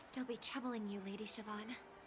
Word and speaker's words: Siobhan: I never thought even after all this time, I'd still be troubling you, Lady Siobhan. Siobhan, I was pronouncing it wrong.